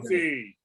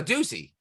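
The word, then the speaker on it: Doocy: No, He's owning Josie. Oh, Ducey. Ducey, that's Yeah. it. Sorry, Yeah, sorry about Peter Ducey, pronunciation.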